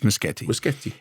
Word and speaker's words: Muschietti: producer of uh and it's muskete not muskete it's spelled Yeti but and that which is what I was saying but apparently I was wrong it's muskete uh and also there'll